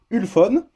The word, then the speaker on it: Ulefone: téléphone chinois de marque alors on va le prononcer à la française une phone donc un téléphone très